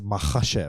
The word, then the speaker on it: Makhachev: It's a Makhachev.